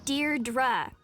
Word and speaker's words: Deirdre: Deirdre. I know it's got that tricky second syllable, but I figured it out by age 2.